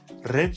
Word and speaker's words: read: Bu fiil readinci hali az önce duyduğunuz gibi read şeklinde okunur. İkinci ve üçüncü hali ise red şeklinde okunur.